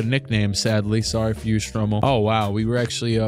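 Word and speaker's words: Stromile: Let me look out how to pronounce that before I look stupid. It is Stromel.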